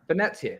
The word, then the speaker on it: Venezia: Venezia. Christ, this heat. I'm blaming the heat for my usual poor pronunciation this week.